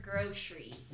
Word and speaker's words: groceries: Groceries or groceries? Groceries. Groceries. Yes, the 2-syllable version. Correct.